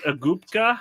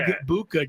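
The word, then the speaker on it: Egbuka: Abuka. Abuka. Okay. Eggbuka. Just like it looks.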